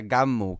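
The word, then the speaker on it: Gunnm: ha sido después el título original era game se pronuncia gum que es una idea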